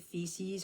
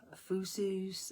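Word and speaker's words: Physis: So next we'll call upon Hecate, Feces, or Fusus, Phyces. There's different ways I've heard this pronounced. It's spelled P-H-Y-S-I-S or P-H-U-S-I-S, the goddess of nature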